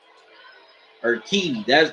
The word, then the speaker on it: Urquidy: Urquidy, that's how you say his name.